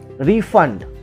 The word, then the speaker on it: refund: अब आप देखो refund also has got two syllables, re and fund. So when you use it as a noun, it is refund, right?